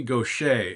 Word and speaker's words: Gauthier: Her name is Mary Gaucher, and it's spelled, I think she's from Louisiana, probably Cajun country. It's Gauthier. Somehow that spells Gaucher.